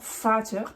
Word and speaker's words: Vater: Dans Vater, par exemple, le père, c'est un F.